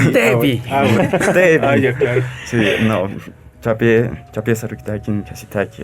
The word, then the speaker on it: Teví: Álvaro Chubé, Teví, Moncosh, lo he pronunciado bien esta vez. El acento es en la E. Gracias. Teví. Teví.